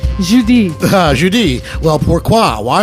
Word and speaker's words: Judy: Judy you're speaking French I prefer the French pronunciation Judi Judi well poor qua